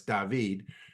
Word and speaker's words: David: name of David uh yes it's spelled David but he's from Spain so it's David I met him at